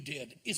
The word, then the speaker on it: Dedi: It's Dedi or Didi? D-E-D-I? Didi, yeah. Didi, is that the way it's pronounced? Yeah.